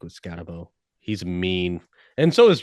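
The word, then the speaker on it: Skattebo: I was between him and I can't believe Cam Scatabo, that's how he pronounced his name, was that high.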